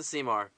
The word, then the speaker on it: CMAR: We pronounce it CMAR.